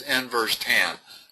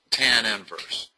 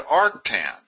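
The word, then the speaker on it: tan⁻¹: though this little -1 goes after it, the way you pronounce this is inverse tan, not tan inverse. Okay? You could also pronounce it arctan. Arctan or inverse tan, but the tan is always the second word.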